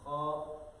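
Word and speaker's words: خ: This should come out from exact the beginning of the throat.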